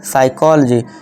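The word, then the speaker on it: psychology: इसकी इसी तरह से हम क्या पढ़ेंगे, साइकोलॉजी, रिसीट।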